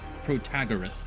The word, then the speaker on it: Protagoras: Protagoras. Yeah, that's the right way to say it.